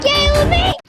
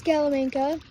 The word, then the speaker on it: Scalam: My name isn't Scaly. It's Scalam. Chill axe. Skeleam.